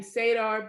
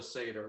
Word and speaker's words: seder: around the table and you were having sadar before you ate and and no the whole thing is called a seder the whole whole thing